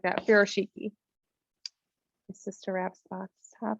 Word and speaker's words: Furoshiki: I pronounce it just like that, Furoshiki.